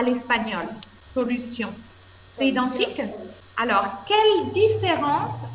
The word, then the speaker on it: solution: par le mot solution est ce que la prononciation est identique à l'espagnol solution c'est identique alors quelle différence avec l'espagnol quelle